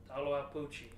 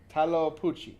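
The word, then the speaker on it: Tlahuelpuchi: Taloapuchi. Taloapuchi.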